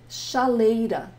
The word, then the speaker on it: chaleira: Chaleira.